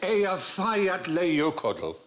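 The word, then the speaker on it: Eyjafjallajökull: And I think, actually, the way you're supposed to pronounce it is... Hutch. If only. It changes it. Apparently, it's Ea Fayat Leokodl. And is that translated big smoky bastard?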